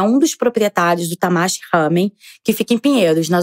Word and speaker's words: ramen: Nos últimos anos, começaram a surgir várias casas de lamen, ou ramen, conforme a pronúncia japonesa.